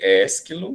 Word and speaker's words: Ésquilo: B, Ésquilo, são palavras aí, gente, paroxítonas, né? Então, prestando atenção no acento, ele vem na antepenúltima sílaba, então ela tem que ser a mais forte. Sófocles, Ésquilo, né?